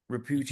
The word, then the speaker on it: Ruchi: I want to uh am I pronouncing your name right ran Mr Ruchi nailed it Ruchi you nailed it okay good so so